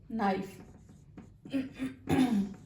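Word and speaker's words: knife: جیسے ہمارے پاس ایک ورڈ ہے نائف. نائف, ہم اس کو کے کی ساؤنڈ کا نائف نہیں پڑھ رہے بلکہ ہم اس کو نائف پڑھ رہے ہیں.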